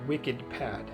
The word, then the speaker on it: Wikidpad: talking about today is called wicked pad if you're listening to the podcast and you want to know how to spell that it's wik ID PA d and this is a free